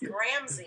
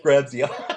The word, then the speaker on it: Gramzay: Yeah, I butchered it. That's close. It's Gramzay. Gramzay.